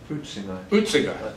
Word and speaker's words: Huizinga: Probably pronounce this wrong. Johan Huizinga. Huizinga.